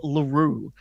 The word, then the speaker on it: Lurue: we will be starting uh the lore of LaRue that's a proper noun not a not a